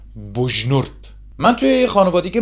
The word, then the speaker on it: بجنورد: نورد به دنیا اومدم البته تو اخبار میگن بجنورد یا بجنورد اما بومی اصلاً ج رو تلفظ نمیکنن اینطوری میگن بجنورد من توی یه خانواده